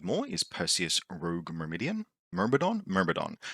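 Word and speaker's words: Myrmidon: I keep saying Mermidian, and I will probably keep saying that cuz it makes people annoyed, and that amuses me in a kind of like gentle, non-spiteful way. I am saying it wrong. I absolutely am. It's Mermodon from the Greek Mermadon meaning ant nest.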